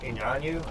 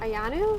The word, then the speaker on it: Iyanu: doctor stepmother can help help those animals but Inyanu I can't say her name correctly. I'm sorry. Can you say her name again? Ayanu.